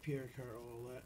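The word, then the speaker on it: Pierre Carl Ouellet: Jack Verville, Mysterious Movado, Suplex Shogun, Jackson Stone, Pierre Carl, how do you say it, Olette? Yeah, Pierre Carl Olette.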